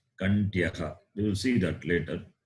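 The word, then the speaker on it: Kaṇṭhyaḥ: H is not like the English H, it is got dot at the bottom. Visarga. So you have to pronounce Kantyaha.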